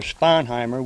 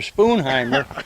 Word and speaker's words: Sponheimer: But you ask for a Spoonheimer, and they'll say, "Well, which one do you want?"